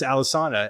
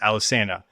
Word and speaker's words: Alesana: tell them that they're wrong and no it's Alisana and they're like well uh pretty sure we named the band and it's pronounced Alisanna. So, if you're saying Alisana, stop it because you are wrong.